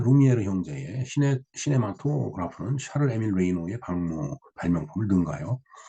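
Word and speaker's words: Reynaud: 1895년에 루미에르 형제의 시네마토그라프는 샤를 에밀 레이노의 발명품을 능가하여 그 에밀을 파산으로 내몰았다. 그러니까 이 샤를 에밀 레이노드, 이 프랑스이기 때문에 이 D 발음을 안 하는 모양이네요. 샤를 에밀 레이노.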